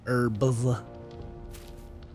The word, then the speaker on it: herbs: never know about some eing herbs the H is silent smile is is the